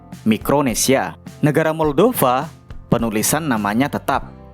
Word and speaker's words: Mikronesia: Dalam bahasa Inggris i-nya dibaca I dan menggunakan huruf C micro. Tapi dalam bahasa Indonesia huruf I-nya dibaca I dan menggunakan huruf K mikro mikronesia.